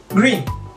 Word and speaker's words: green: No es con doble E, green, sino lo reemplazamos con una I corta. Green.